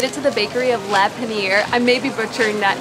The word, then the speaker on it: Le Panier: All right, so we got our croissant and our coffee and I asked the lady how to pronounce it. It's Le Panier which means bread baskets in French.